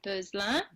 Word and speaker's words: Beuzlin: So in French, I mean, it's like 12 letters long, but we only use like 6 of those letters. So it's pronounced Beuzlin.